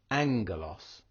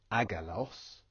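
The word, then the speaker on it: ἄγγελος: NK but spelled differently the best example of a gamma nasal that's used quite regularly is angulos it would look like with two gamas you say this word aalos but because we've got the gamma nasal in play here turns the first gamma to an end sound and is pronounced angos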